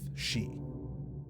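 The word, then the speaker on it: し: 4 is looked at as an unlucky number in Japan because the way 4 is written out and the way that it's pronounced sounds like the same word for death, shi, or the same root word.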